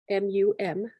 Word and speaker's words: Mum: And the seed syllable Mum, M-U-M, pronounced Mum, stands at this moon's center.